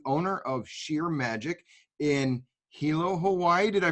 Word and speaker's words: Hilo: Karen is the owner of Shear Magic in Hilo, Hawaii. Did I pronounce that right, Karen?